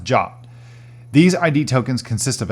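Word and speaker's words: JWT: JSON web tokens or J WTS pronounced job these ID tokens consist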